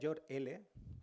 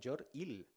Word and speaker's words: Jor-El: El nombre del padre de Superman, en Krypton, es lo voy a pronunciar en castellano, sería Jor-El, en inglés sería Jor-Il.